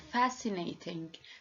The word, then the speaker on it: fascinating: Like fascinating. Fascinating. So here we don't pronounce the letter C because it preceded by S.